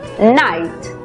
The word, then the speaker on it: night: En la palabra noche, por ejemplo, que se escribe, vemos que la GH es muda. La I toma su sonido abierto. Por lo tanto, la pronunciación es night.